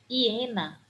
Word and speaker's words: hiena: Hiena. O animal hiena é com H. Apesar de saber que o H é uma consoante muda, né, que ela não